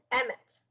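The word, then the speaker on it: אמת: Emmet. Emmet. Everybody say Emmet. Emmet. That is the word truth, because Yeshua said, I'm the way, the truth, and the life. The Derek, the Emt, or Emmet, and the Chai.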